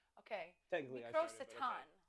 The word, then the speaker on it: Microsatan: But it's pronounced Very European. Microsatan.